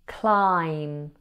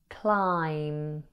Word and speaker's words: climb: Climb has a silent B. Say it with me. Climb. Climb.